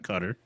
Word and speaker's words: Qatar: pronounce it as qatar cutter and the slight emphasis on the first syllable apparently it says the